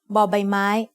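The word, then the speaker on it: บ ใบไม้: consonant of a syllable B makes a sound but like the b in bucket you can also think about the shape of B may as a bucket which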